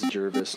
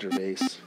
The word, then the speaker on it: Jervis: Haha, it is Jervis, not Gervais. Dang it! Yes. So I've been saying it right this whole time.